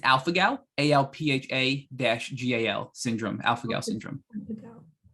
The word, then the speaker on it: alpha-gal: How do you pronounce that again? It's alpha-gal, ALPHA-GAL syndrome, alpha-gal syndrome.